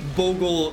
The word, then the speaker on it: Bogle: I believe I mispronounce a lot of words on the stream, but I believe Bogle is correct. The correct pronunciation.